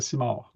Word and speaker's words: Simard: You don't say the D. It's kind of No, silent. the D is silent. Yeah, the D is silent. Everybody Says his D is silent too. You pronounced it like the M sounds like an N.